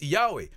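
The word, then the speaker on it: Yahweh: disse meu nome é yahwe mas como você pronuncia bem a antiga sabedoria Judaica diz a maneira como você diz ywe porque não é um nome é um som Então você abre a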